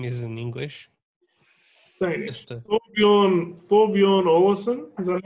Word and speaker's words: Olesen: Thorbjørn Olesen, is that how you say it? Thorbjørn Olesen, technically. Thorbjørn Olesen. Yeah, I bet you someone from fucking Scandinavia would criticize your pronunciation as well.